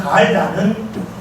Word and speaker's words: 갈다: 갈다, 길게 발음하는 갈다는 칼을 가는 것을 말합니다.